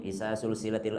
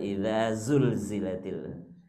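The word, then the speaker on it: إِذَا زُلْزِلَتِ: Jadi orang Sulawesi kalau mengaji itu Bismillahirrahmanirrahim, Isa sulsilatil ardu silsalaha. Jadi S semua. Isa sulsilatil ardu silsalaha, kata orang Sulawesi. Datang orang Jawa, enggak gitu bacanya. Terus gimana Mas? Ijajul jilatil ardu jiljalaha. Jadi J semua. Padahal idza zulzilatil.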